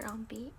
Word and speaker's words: ambience: And yeah, they're pronounced according to however you spell it. So it's like ambiance if you spell it with an A, or ambience if you spell it with an E.